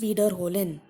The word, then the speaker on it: wiederholen: Wiederholen. There are four syllables.